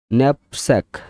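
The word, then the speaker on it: knapsack: ন্যাপস্যাক, ন্যাপস্যাক, এন এ কে এন এ পি, ন্যাপ এসে কি স্যাক, ন্যাপস্যাক মানে backpack.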